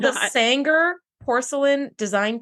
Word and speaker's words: Saenger: No, it's called the Sanger Porcelain Design 2 set. I have a picture of it up now on our Instagram, so go check it out. Sanger is spelled Saenger.